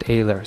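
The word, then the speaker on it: Oehler: This one is for Mike Ayler, and it's very nice of them to provide pronunciation on this card because right under it says pronounced Ayler, so that's lovely.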